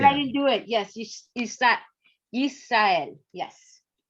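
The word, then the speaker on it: ישראל: Yes, Yisrael. Yes. So notice we have a closed syllable, yis. Yes. That's a consonant plus a vowel plus a consonant and no vowel.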